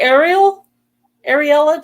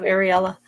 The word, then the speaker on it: Ariella: I keep calling her Ariel instead of Ariella. Every time I see that name, I think Ariel, like Ariel and I say it wrong, and I have to correct myself.